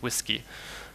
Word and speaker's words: WSGI: Django generally you use the web server gateway interface WSGI or sometimes pronounced whiskey so what this basically